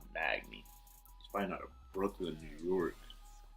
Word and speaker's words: Magny: And with the next fight, you got Johnny Hendrick versus Neil Magny. That's how you pronounce it. Magny.